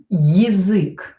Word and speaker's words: язык: So, язык. Here this я will be reduced. We are going to pronounce it as и.